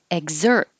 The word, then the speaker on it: exert: timing starting with exert it's not really a ga you don't have to pronounce the the g because it could be a k or a g but your tongue is going to that position egg and then not releasing egg exert exert passive and this is